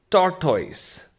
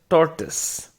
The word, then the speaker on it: tortoise: Another word which I came across, people say it differently, is tortoise. Now, I am pronouncing it wrong right now. It is not the correct pronunciation. The correct pronunciation is tortoise.